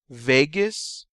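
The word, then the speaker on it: Vagus: to deal with digestion Vegas rhymes with anus and you use this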